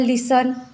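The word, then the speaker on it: listen: T silent होता है for example लिसन यहां पर टी न आए है हम लिन ऐसे नहीं बोलते सिर्फ लिसन ऐसे बोलते हैं तो यहां पर हो गया T silent on टी एन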